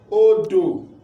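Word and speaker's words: odó: Re, do, odo, river. Another one here is ODO. This O do not have sign, so it is re. This O has sign, it is mi. ODO, re, mi, odo, which is what?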